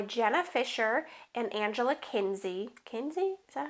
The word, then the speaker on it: Kinsey: Kinsey? Is that how you say it? Yeah, Angela Kinsey.